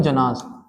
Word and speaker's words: जन: जन ठीक है और लिखने के वर्ड में जनाज लेकिन हम प्रोनाउंस क्या करते हैं जन ठीक है जन बोलते